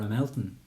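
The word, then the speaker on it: Ramelton: two starts at uh ramilton or a melton as the locals say um it's a beautiful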